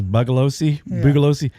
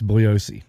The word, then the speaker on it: Bugliosi: to everybody out there who says Bugalosi, the G is silent. It's Bugliosi.